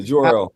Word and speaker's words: Jor-El: They obviously got Bradley Cooper to play Jarrell. Jarrell. What? How do you pronounce it? Is it wait? Hold on. It's Jarrell, right? Yeah, Jor-El.